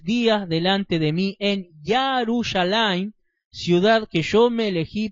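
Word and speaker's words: ירושלים: poner su nombre también se acostumbra a llamarle yerushalaim pero lo correcto es yarus alim vamos a leer primera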